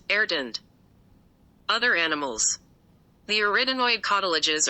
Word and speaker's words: arytenoid: The word arytenoid is pronounced erdend.